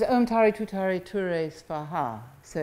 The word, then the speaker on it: Svaha: Tare Tu Tare Ture Svaha. So it's Om Tare Tu Tare Ture Svaha. And so it begins with Om and ends with Svaha. And Svaha is sometimes pronounced Soha or Soham, and it's a little